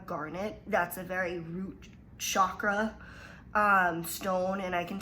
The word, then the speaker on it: chakra: centers in our body they're called chakras or chakras but the actual um way to pronounce them in sanskrit is chakra so you have your